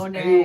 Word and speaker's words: Monet: Money. It was Monet. A-Y. Like Monet.